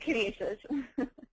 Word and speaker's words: Canisius: I can't even pronounce it at this point. No, that's right, Canisius.